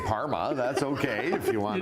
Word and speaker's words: Parma: Oh yes, Canadian brand ambassador for Prosciutto di Parma, Chef Roberto Fracchioni.